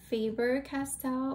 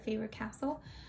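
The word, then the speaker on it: Faber-Castell: i think it's pronounced faber castell or faber castell i may be totally wrong i think it's faber castell because there's two l's at the end instead of favorite castle um they are a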